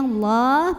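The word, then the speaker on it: الله: nya tahan lama lam pada lafadz Allah atau lam jalalah dibunyikan secara tafkhim Kenapa karena huruf sebelumnya Nun barisnya fathah maka bacanya Allah pangkal diangkat lalu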